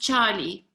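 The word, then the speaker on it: tjalie: afrikaans it's spelt tj and and it's it's pronounced charlie and if you to that that's that's practice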